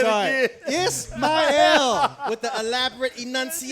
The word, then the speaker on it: Ismail: Ismail. With the elaborate Yeah, you enunciation. said it. There we go. So Kiss my L.